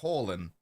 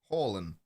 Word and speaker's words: Haaland: Haaland. There is no D. Haaland. It's a soft D. You don't pronounce it.